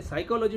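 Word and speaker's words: psychology: साइकोलॉजी में P silent है, लिखना है लेकिन उच्चारण नहीं करना है, तो वो मूलतः शब्द क्या है?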